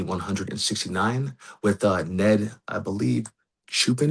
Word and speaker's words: Chupin: Chupin is how he pronounces his last name.